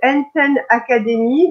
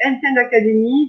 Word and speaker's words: Enten Academy: Tu es la fondatrice de Enten Academy. Donc, si jamais j'écorche la Non, prononciation c'est du fameux, parfait. donc c'est Enten Academy, donc spécialisée dans l'apprentissage et donc la linguistique.